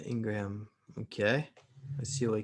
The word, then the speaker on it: Ingraham: guys so yeah uh laura ingram and it's spelled ingraham so that's another one yeah laura and then like i said it's spelled ingraham uh ingram okay let's see what